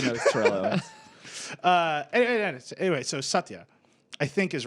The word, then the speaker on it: Satya: Anyway, so Satya, I think is right. I think Sure. like I'll buy it. OG, that's the pronunciation, for but it.